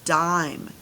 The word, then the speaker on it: dime: But with that silent e at the end, what does it become? It becomes dime. Dime. This changes the I to a I sound.